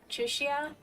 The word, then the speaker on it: Chixia: Her name looks like Chixia, but they pronounce it more like a sh, so Chushia, I think is about the way.